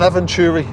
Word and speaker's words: Eventuri: map intake center delete so you say an aventuray intake yeah that's how you pronounce it but there's too many